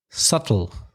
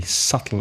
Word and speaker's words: subtle: Subtle. With a silent B. Subtle. SUBTLE.